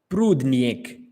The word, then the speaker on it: Prudnik: Prudnik. How's the pronunciation?